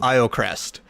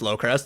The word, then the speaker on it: Iocrest: This is our very first ever session in a campaign that is titled Magic of Iocrest. This has been numerously mispronounced by a lot of people of thinking it's Lowcrest, and that's okay, it's funny.